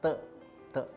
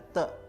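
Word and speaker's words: 德: Sebetulnya kata aslinya adalah te ya. Nah, ini tulisan aslinya saya tunjukkan supaya pemirsa juga paham ya. Tulisan seperti ini kita bacanya te diterjemahkan kebajikan dalam bahasa Indonesia.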